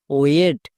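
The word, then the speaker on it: wait: এবার আইকে দেখে আমি ডব্লু এ এর জন্য সাউন্ড করতে পারলাম, যাকে দেখে করতে পারবো সেটা সাইলেন্ট, তার উচ্চারণ করার দরকার নেই, তাই আই এখানে সাইলেন্ট। নেক্সট, টি, টি এর জন্য টো, তাহলে পুরোটা কি দাঁড়ালো? ডব্লু এ আই টি, ওয়েট।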